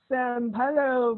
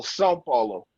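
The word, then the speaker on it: São Paulo: now he's in Brazil San Paulo Brazil I'm not pronouncing that right well we don't have in the English language anyway to pronounce the little squiggly line over the a it's an easel Sao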